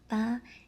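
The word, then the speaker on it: 八: The number eight ba is the most loved number in China. It sounds like fa which means get rich.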